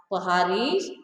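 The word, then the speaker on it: पहाड़ी: Actually, the word is pronounced as Pahadis. Pahadis in the sense people who survive on the hills, people who survive on the mountains. They are called as Pahadis. But in English, we pronounce or we say it as Paharis.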